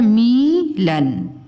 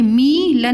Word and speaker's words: मिलन: Mummy लिखा हुआ है मीलन, मीलन, तो ये गलत हो जाएगा। बोलो बेटा ये मीलन नहीं है, मिलन। ठीक है, तो ये है मिलन।